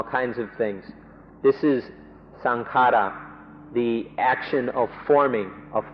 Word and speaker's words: sankhara: Pali word, which is sankhara. Thais make it a little easier to pronounce and say sankhan. But in English books it will be spelled out sankhara.